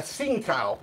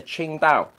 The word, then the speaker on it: Tsingtao: A Tsingtao. That's completely incorrect. So how right? I'll educate the faithful out there. You'd call this a Qingdao.